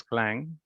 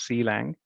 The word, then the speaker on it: Clang: clang so you know it is pronounced as clang not sealing it's a compiler front